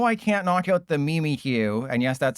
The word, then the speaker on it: Mimikyu: But they know I can't knock out the Mimi Q.